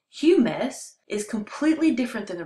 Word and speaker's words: humus: But humus, pronounced humus, is completely different than the rest because it's actually dead and decomposing bits of plants and leaves.